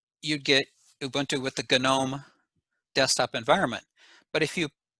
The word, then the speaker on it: GNOME: most popular ones are gadome with a hard g that was a made up acronym gnu network object model environment or something like that but for the last 20 years they just call it gnome there's a software development